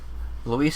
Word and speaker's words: Luis: So they're pronouncing his name correctly. Luis Serra report.